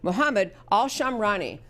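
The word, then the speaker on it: Muhammad Al-Shamrani: Muhammad Al- Shamrani.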